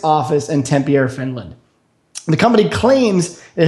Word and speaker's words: Tampere: How do you pronounce that city, by the way? Tampere? Yeah, I think Tampere is probably more accurate.